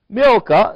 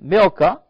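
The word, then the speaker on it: Milcah: and it came to pass after these things that it was told Abraham saying behold milka is pronounced m-i-l slash or Dash k-a-h-c there is a k sounding milka she have also born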